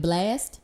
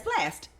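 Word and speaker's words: Blxst: on hold up so you supposed to pronounce it blast yes it's blast baby that's black it's it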